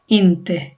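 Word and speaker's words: inte: ইন্তে ইন্তে নট উচ্চারণটা হচ্ছে ইন্তে যে ক্রস না এটা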